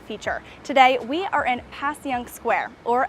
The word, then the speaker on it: Passyunk: today we are in pass young square or as it's affectionately pronounced by local philadelphians as passion we're going to tell